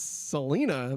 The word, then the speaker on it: Selena: It is pronounced Selena. It is pronounced Selena.